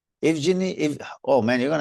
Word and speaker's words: Evgeny: Evgeny. Holy smokes. Okay, let's try again. I- Ev- Evgeny just spell it like you spell it.